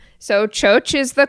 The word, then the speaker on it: Txotx: is what we call Txotx. And so Txotx is not spelled with C's and H's. It is spelled with T's and X's. And that is the Basque sound for ch. So Txotx is the call at the cider house.